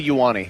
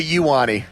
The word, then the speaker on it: Ioane: No, it's Venga Ioane. I'm just going to start spelling this phonetically from now on. That's how I do it. I say Venga, like the Venga Boys. Remember that? No. And then Y-O-U Who are they? -A-N-E.